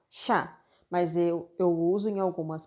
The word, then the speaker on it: chá: Eu leio chá. Chá. Então, CH, quando eu uso CH, ele tem um sonzinho para mim de X. É como se eu estivesse falando X com A, chá.